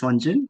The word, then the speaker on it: Wun: uh my name is Wun it's pronunciated as in one as in number one June May after June